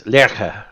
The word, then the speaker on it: Lerche: It is the German word for lark, and it's Lerche.